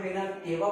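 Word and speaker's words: vena cava: सबसे पहले अगर हम देखें तो हमारे पास जो ये वेना कावा, ठीक है, बहुत सारे जगहों पर वेना केवा बोला जाता है, बहुत सारे जगहों पर वेना कावा बोला जाता है।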